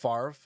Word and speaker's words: Favre: me just stop here f-a-v-r-e in what universe is that pronounced farv and the french universe oh my gosh no